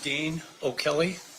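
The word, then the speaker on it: Dean O'Kelley: If you please state your full name and then spell it for the record. It's Dean O. Kelly and it's D E A N O Apostrophe K E L L E Y.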